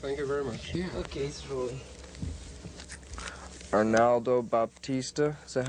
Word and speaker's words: Arnaldo Baptista: thank you thank you very much yeah okay Arnaldo Baptista is that how you pronounce his name that's it where I said